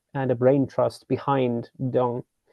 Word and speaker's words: Deng: There were a bunch of guys and a brain trust behind Deng. The actual pronunciation is Dong.